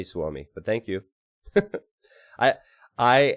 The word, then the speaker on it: Suomi: how you doing so ami is pronounced more like sore me not sOooo me well I'm gonna say Swami but thank you I